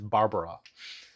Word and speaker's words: Barbara: The B's are the proper way. It is Barbara, and she's standing hands